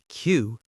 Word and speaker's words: cue: Q. C-U-E. It sounds exactly like the letter Q and the word queue, a line of people.